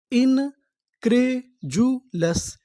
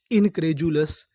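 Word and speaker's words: incredulous: यहां पर जो हमारा डी यू है इसे पढ़ेंगे जु। कभी कबभार हम लोग डी यू को जु भी पढ़ते हैं।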